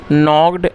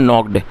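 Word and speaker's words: knocked: Word को pronounce करें इसमें जो के है वो साइलेंट है और नॉक का मतलब होता है खटखटाना। दरवाजे पर दस्तक देना। सेकंड फॉर्म है नॉक्ड। तो यह सेकंड फॉर्म है और इसमें के साइलेंट है।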